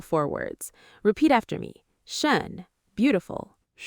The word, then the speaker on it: schön: Shun.